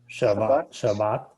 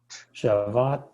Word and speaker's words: Shabbat: Shabbat, Shabbat la Adonai. You gotta pronounce those Shabbat. T's on the ends of words. Shabbat la Adonai Elohecha. Gotta hear that T.